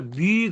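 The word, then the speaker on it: μ: 이렇게 쓰는 거를 우리가 미 그래요. 미. 까미 할 때 미. 글자 얘 이름이 미예요. 그러니까 첫 글자가 미음이죠. 미음 발음. 자음이 되겠죠. 자음. 이런 식으로 어 미가 되는 거예요.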